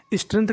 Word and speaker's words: strength: GTH में हमारा G silent रहता है, यानी हमें G का उच्चारण नहीं करना। तो मीनिंग बन गई स्ट्रेंथ का मतलब ताकत या क्षमता।